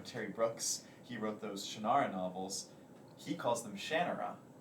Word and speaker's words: Shannara: were referring to as Shannara and so uh that he would say the college is series what series oh Shannara he's like it's my Series this is how you pronounce it I never knew that